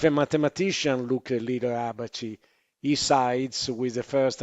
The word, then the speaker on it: Abaci: I still pronounce it as an Italian. Maybe it's Liber Abaci, but we say Abaci.